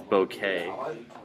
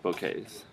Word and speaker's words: bouquet: with this word because you want to say bouquet, but it's not. It's bouquet. Bouquet. Because it comes to us from French, so that last part is just a. The T is silent.